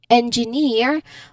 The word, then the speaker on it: engineer: Again, the rule for ear, we stress on the final syllable. So, we stress on ear. So, and when I say um engineer, I'm referring to or I'm going to focus on ear because that's that's the rule.